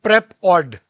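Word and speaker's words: PrepAud: they have come up with a company called prep odd now the odd is spelled with AUD which means audio so in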